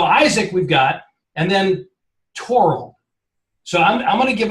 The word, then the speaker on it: Thorald: So it's spelled Thorald. Yes. And you pronounce it Torald with a hard T, not Thorald. Exactly. It's certainly not Thorald.